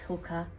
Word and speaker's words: Hoka: Hoka.